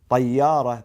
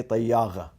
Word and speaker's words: طيارة: For instance, طيارة, they say طياغة.